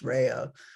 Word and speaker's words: Rea: and legally changed his name from Lorenzo Rea, pronounced Rea, to Lawrence Ray, you know, just Americanized his name.